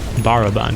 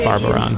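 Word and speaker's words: Barathrum: Baraban, not Barbaron.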